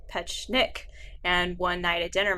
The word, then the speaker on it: Petschonek: And he said, Petschonek, how do you say it? I said, there are 3 syllables.